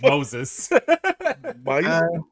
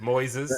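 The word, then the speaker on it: Moisés: I don't think it's Moses. Actually, is it Moses? It's like Moses. Moises, yeah.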